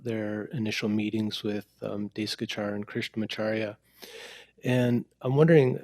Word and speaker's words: Desikachar: initial meeting with uh desk guitar or daishi guichard is probably how you correctly pronounce it was um uh at